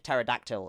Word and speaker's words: pterodactyl: But you can also use it for pterodactyl as well, because that starts with a T. It's like pterodactyl is how you spell it, but it's not actually how it's pronounced, because the English language is a strange device.